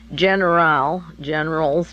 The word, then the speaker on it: Generale: Societe, S-O-C-I-E-T-A, Generale, pronounced that way, Generale, Immobiliare, I-M-M-O-B-I-L-A-I-R-E, SGI is the short for the corporation.